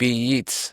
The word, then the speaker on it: Yeats: WB Yeats. He was a poet, yes. I said it right, right? Yes, W.B. Yeats.